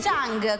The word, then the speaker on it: Zhang: No, ma spiegami l'ha fatto anche lui, l'ha fatto anche Zhang. Come mai? A parte che si chiama Zhang e non si chiama Chang.